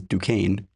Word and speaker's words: Duquesne: Fritz became a well-known figure in Rio during this period under the name Piet Nyakud, which please note is Dukane written phonetically pronounced backwards.